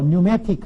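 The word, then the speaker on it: pneumatic: 그런데 이제 영어로 오면은 P자가 발음이 안 돼서 뉴매틱 하면은 뭐예요?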